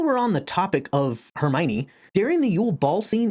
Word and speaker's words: Hermione: So I called her Hermony until we get to Goblet of Fire where she breaks down the pronunciations to Hermione.